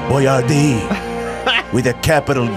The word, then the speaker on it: Boyardee: Some people mispronounce it. They go, Boyardee. And he's always quick to go, it's Boyardee.